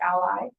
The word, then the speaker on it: A11Y: A common abbreviation that you will hear or see is A11Y, pronounced as ally, and it's a numeronym, meaning that there are 11 characters between the A and the Y.